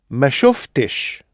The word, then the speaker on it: ما شفتش: That ends in two consonant sounds, shuft. So if we're going to add another consonant sound after it, our sh for mash, for example, we're going to have f-t-sh, which is a no-no in Arabic. So we've got to stick a little eh in the middle. So listen to Mahmoud saying, you saw, you didn't see. شفت ما شفتش. So we've got a little eh in there before.